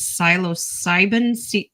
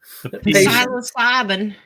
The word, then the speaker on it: psilocybin: So the number one thing that a lot of this is based around is psilocybin. Yeah. Yeah. Say it redneck. Psilocybe. That's psilocybe. Cubanis. We could pronounce the P. Psilocybin.